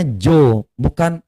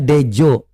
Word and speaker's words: Djo: Itu bacanya Jo, itu bukan bacanya Dejo, Jo. Karena ini ejaan lama, ini marga.